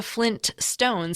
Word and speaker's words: Flintstones: that's the thing like I don't think I've ever pronounced the tea in Flintstones sorry the first te in Flintstones um but I've always known it was there yeah so what's going